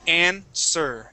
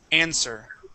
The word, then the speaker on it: answer: llo this word everybody the W is silent the word is not ANW but answer answer okay good okay let's